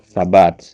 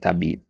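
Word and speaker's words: ثبات: Yang benar itu tsabat ya bukan tabit.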